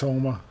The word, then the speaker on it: Houma: I think it's pronounced Houma.